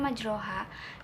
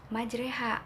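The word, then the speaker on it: مجراها: waqolal waqolarkabu biha bismilahi majreha wa mursaha inna Robbi lagu Fur ohim Nah tadi adalah fat majroha penulisannya majroha tapi dibacanya majreha Karena itu mempunyai hukum bacaan ghorib yaitu imalah yang kedua ada isme-isme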